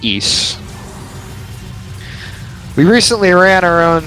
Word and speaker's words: Ys: the ring of ease, not to be confused with the title of the game, which is pronounced east. We recently ran our own series marathon of every game in the east series on the RPBT Limit Break channel.